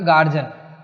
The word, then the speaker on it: guardian: एक गार्जियन। देखो गार्जियन शब्द स्पेलिंग से लगेगा नहीं आपको, GUARDIAN।